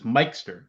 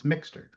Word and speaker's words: Mikester: the the other thing with my name is that everybody always mispronounces my last name because it's Mikester. Everybody always thinks it's Mixter.